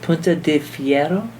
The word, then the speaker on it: Punta de Fierro: cidery and I'm going to learn how to pronounce it pun de Fiero yeah that was great okay from Patagonia Chile